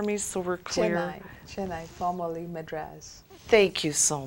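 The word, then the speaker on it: Chennai: now lives in Shaha I believe could you pronounce that for me so we're clear chai chenai former Madras thank you so much and I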